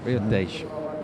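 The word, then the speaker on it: Tejo: Riotej.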